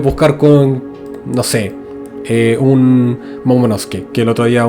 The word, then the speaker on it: Momonosuke: Lo puedes buscar con, no sé, un Momonosuke. Que el otro día un suscriptor me corrigió que se pronunciaba Momonosuke.